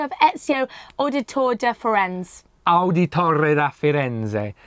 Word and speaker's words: Auditore da Firenze: Auditore da Firenze. Say it like this and you get it right.